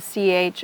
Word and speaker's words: ch: And so when it comes from French, we've kept, for the most part, the pronunciation of the CH as ch, like in French.